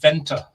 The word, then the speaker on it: Venter: his name is Dylan Venter v-e-n-t-e the E is pronounced as an a in in the Netherlands still inventor if you